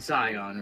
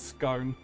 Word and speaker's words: Scion: Instead of saying Scion, we're saying stone. Yeah. Apparently a load of people can't pronounce or can't work out Scion and end up calling it scone.